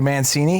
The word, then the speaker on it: Mancine: Matthew Mancini. Is that pronunciation right?